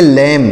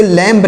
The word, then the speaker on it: lamb: देखिएगा LAMB, तो इसे क्या पढ़ेंगे, इसे पढ़ेंगे लैम। क्या पढ़ेंगे, लैम। इसे लैम्प नहीं पढ़ेंगे, लैम पढ़ेंगे।